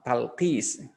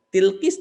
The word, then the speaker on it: Talqis: Misalkan saya talqis, kemudian ditulis dengan Arab ta, lam, qaf, sin misalkan. Ya, sin, lam, talqis. Tapi dosen misalnya yang dari Afrika memanggil tilkis di kasrah.